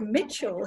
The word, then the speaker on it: Mitchell: Yeah, well, in the word Mitchell, here's the thing. The letter E in Mitchell is silent. representing a very, very weak sound. It's representing an sound, and that's called schwa.